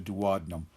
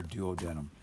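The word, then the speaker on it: duodenum: intestine referred to as the dadum you'll also hear dood denum but the dadum or the dood denum I'll flip back and forth in my pronunciation those gastric pits that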